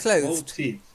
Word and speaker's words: clothed: Clothed. Clothed. Clothed. Just clothed. Yeah. Clothed. Clothed. Clothed. Clothed. Oh, I can't. That's because you're still seeing the E.